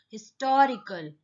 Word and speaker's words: historical: We pronounce it like this, historical. That means we are not stressing the first syllable, that is his.